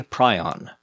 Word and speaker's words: prion: The hypothetical protein is called a prion, pronounced prion. Wrong. With apologies to Dr. Prusiner, I'm probably going to continue calling these things prions, not prions, because that's literally the only way I've ever heard it pronounced.